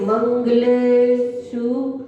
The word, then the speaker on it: मंगलेषु: कहाँ गलत हुआ है? मंगलेषु बड़ाऊ हो गया, सर्वेषु बड़ाऊ हो गया, जबकि कौन सा ऊ है? छोटा ऊ।